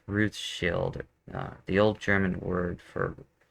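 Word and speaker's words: Rothschild: you got to think like I said before rosch child is not the way I pronounce it it's Ruth Shield the old German word for red was Ruth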